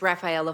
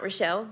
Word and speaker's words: Rafaela: I just want to state, my name is Rafaela, not Rochelle.